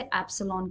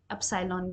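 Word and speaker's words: epsilon: जैसा जो सिंबल लिखा है इसे एप्सन कहते हैं या फिर कुछ लोग इसको एप सालन भी कहते हैं ठीक है क्योंकि ग्रीक शब्द से आया है इसीलिए हम भारत के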